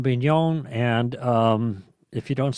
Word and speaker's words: Bignon: g-u-i-l-l-a-u-m-e last name b-i-g-n-o-n that's like a big non there you go confessions